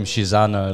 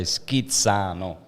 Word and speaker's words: Schizzano: I don't call him Schizzano like the gringos call him. I'm Italian. His father was Italian, so you say Schizzano. Yep, that's how they say it.